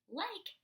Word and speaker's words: like: about this word like like has a silent e say it with me silent E when we see a silent e at the end of our word the vowel which in this case is I says it's own name it says the long vowel sound so in this word